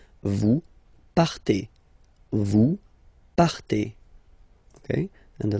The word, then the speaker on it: partez: Then for vous, classic ending for vous as well, EZ, but then you pronounce it et. Vous partez.